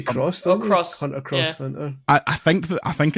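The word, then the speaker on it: Hunter × Hunter: I think the anime people pronounce that Hunter Hunter. I don't think cross. You say the X for. You say cross. Cross. Hunter cross Hunter.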